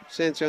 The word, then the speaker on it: Ciencio: Good play by Ciencio. Or is that how you say his name? Yep. Ciencio, number 11.